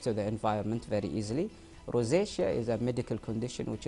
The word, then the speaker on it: rosacea: What is the difference between sensitive skin skin and rosacea in terms of symptoms? Did I pronounce that right?